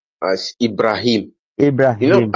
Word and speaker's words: Ibrahim: Uh, my name is pronounced as Ibrahim. You know Ibrahim. Abraham? Yeah. Yes, Abraham. So No, Ibrahim.